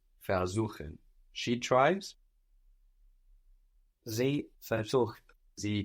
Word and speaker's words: versuchen: It's spelled with a V, but that V is an F. Versuchen. Versuchen. Is this separable? No. No. We have the accent on suchen, showing us that ver stays put.